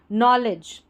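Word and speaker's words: knowledge: IMPROVE, improve our, our, KNOW को नो पढ़ेंगे, क्योंकि जब भी KN साथ रहता है ना स्टार्टिंग में, तो N से पहले जो K आ रहा है वो साइलेंट रहता है, इसको पढ़ते नहीं है, ठीक है। और ऐसे DGE रहता है, इसको जॉ पढ़ते हैं आखिर में जब आता है कोई भी स्पेलिंग में। तो ये पूरा बन गया, KNOW नो, LA ले, और DGE जॉ, नॉलेज, CON cone, FIFE कॉन्फी,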